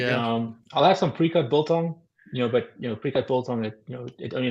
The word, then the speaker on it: biltong: Biltong.